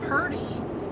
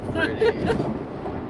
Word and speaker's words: pretty: I know people that would say purty instead of pretty. Yeah. And a little girl asked me one time, isn't the word purty? And I said, no. That's pretty.